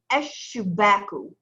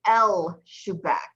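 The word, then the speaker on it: الشباك: Eshubaku. Eshubaku. Good. Eshubaku. Eshubaku. Now you'll notice there, I didn't say El Shubak. I said Eshubak. So you don't pronounce the lam of the aleph lam.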